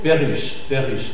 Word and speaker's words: perruche: on avait dit que la lettre E suivie des doubles consonnes, c'est E fermé. Mais si c'est le R, alors c'est ouvert. Exemple. Terreur. Perruche. Hein, c'est suivi de double R, alors c'est ouvert. Terreur, perruche.